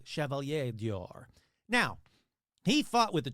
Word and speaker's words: Chevalier d'Or: Now, he wielded power and influence, commanding 2 castles and earning the French honorary title of Chevalier d'Or. That's right. I pronounced it right. Chevalier d'Or.